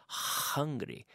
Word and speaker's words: hungry: Pero no digamos hungry, pero hungry. No es la J de jamón, sino hungry.